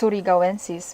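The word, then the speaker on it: surigaoensis: And yeah, I watched people struggle on how to say its name, which is understandable, but I know it's Surigawensis because it's from Surigao, which is a province in the Philippines where I'm from.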